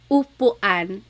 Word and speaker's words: upuan: So ulan, upuan, rain and chair, u. Not like under or umbrella.